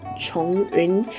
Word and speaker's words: Chongyun: And now we have Chongyun. I know that many other people pronounce his name as Zhongyun, but I believe the correct pronunciation, according to how it's spelled is actually Chongyun.